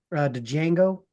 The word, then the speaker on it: Django: He's have you ever seen the Django? The Django. The Mhm. D is silent hillbilly.